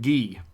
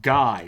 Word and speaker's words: Guy: to be friends and gee is like you know my name isn't pronounced guy right G of that's sounds pretty French and then you know